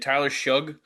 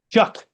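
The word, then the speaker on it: Tyler Shough: Is it Is it Tyler Shuge? Chuck. Chuck. Get it right. There's no C in his name, so I'm gonna keep pronouncing it Suge.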